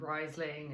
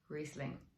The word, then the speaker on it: Riesling: to say it uh i know plenty of us have gone riseling and weasling and um but to germans and that is its home place call it riesling um it's an international